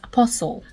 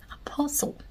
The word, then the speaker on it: apostle: on my list is apostle Apostle the tea is Silent not apostle why do we actually